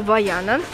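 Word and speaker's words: Vaiana: Я вижу Ваяна. Да, по-французски читается именно так.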